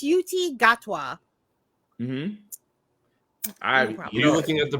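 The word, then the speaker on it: Ncuti Gatwa: It's Yuti Gatwa. Mm-hmm. You looking at the pronunciation this entire time?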